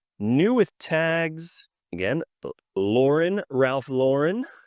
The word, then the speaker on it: Ralph Lauren: So I also learned the correct pronunciation. This might blow your mind. Is Polo Ralph Lauren. It's not Ralph Lauren.